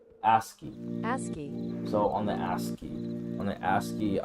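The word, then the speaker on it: ASCII: as C hi I I how do you pronounce that is it as L2 asky asky so on the asky on the asky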